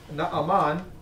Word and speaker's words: Naaman: 2 Kings and talked about a man named Naaman.